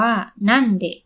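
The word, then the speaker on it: 何で: สงสัย ใช่ มั้ย คะ ถ้า ตาม หลัก การ จะ อ่าน ว่า นัน เมื่อ พยัญชนะ ตัว แรก ของ คำ ที่ ตาม มา ข้าง หลัง ตัว อักษร คันจิ ตัว นี้ นะ คะ เป็น พยัญชนะ ใน วรรค ทะ นะ เวลา ถาม ว่า ไป โดย อะไร เรา จะ ใช้ คำ ช่วย เดะ ใช่ มั้ย คะ ซึ่ง เดะ อยู่ ใน วรรค ดะ ก็ เลย อ่าน ว่า นั่น เดะ แต่ พอ ถาม ว่า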